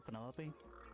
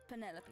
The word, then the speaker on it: Penelope: Is that short for Penelope? Officially, yes, but I never can be bothered with all four syllables of it. Penelope sounds a little ostentatious coming out of the mouth, don't you think?